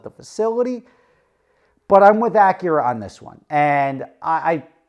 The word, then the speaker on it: Acura: be pronouncing it wrong I'm just used to hearing Acura she calls it nakura and let's just leave